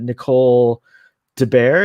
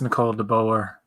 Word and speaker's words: Nicole de Boer: has and terry pharrell and uh um uh nicole de bear is that how you say her name i thought it was i think it's nicole de boer de boer could reprise their roles you could